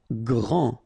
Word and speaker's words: grand: Grand. Final D not pronounced.